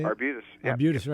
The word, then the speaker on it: Arbutus: Arbutus.